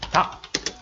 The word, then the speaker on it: 닭: 마찬가지로 닭. 이거 같은 경우 리을 기역이 어떻게 발음됐나요? 그렇죠. 기역으로 발음 났죠.